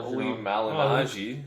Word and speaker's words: Malignaggi: press office JB Paulie Malignaggi first of all say his name right now mahadji the guy gets his